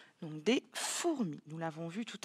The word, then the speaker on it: fourmi: Donc, des fourmis. Nous l'avons vu tout à l'heure, ce mot-là, fourmi. Attention, on ne dit pas fourmi. On dit bien four, première syllabe, mi.